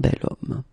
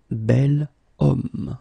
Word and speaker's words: bel homme: So remember, I say the sound of a vowel because, of course, if you look carefully, you've got H here, okay? And it's not a vowel at all. But then in French, we don't pronounce it.